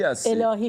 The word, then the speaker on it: Elahi: I never got it, is your family name Assadi or Allahi? - Elahi, Shadi Elahi.